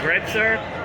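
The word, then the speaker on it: Grätzer: this is a You' either call it a Gritz if you're polish if you're German you call it gretzer I can't pronounce either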